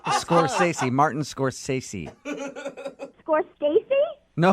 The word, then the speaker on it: Scorsese: It's Scorsese.